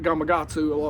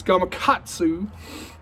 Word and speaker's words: Gamakatsu: they put gatu hooks Gamakatsu hooks uh that's rednecks like to pronounce it Gamakatsu a whole lot but it's Gamakatsu anyway in there and this